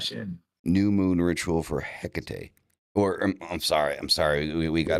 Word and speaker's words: Hecate: Uh, Yeah, but I mean that's more of like a Spanish pronunciation, like Tecate, like the beer.